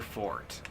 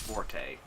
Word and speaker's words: forte: game definitely not your fort because it's not actually pronounced Forte the E is silent but most people don't know that oh God this is